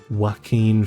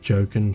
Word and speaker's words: Joaquin: The main actors are Joaquin Phoenix, I believe that's how you pronounce his name. Like, I always like to have a little bit of a joke and call him Jokin Phoenix, because, you know, that's how his name's spelt, but obviously it's not pronounced that way.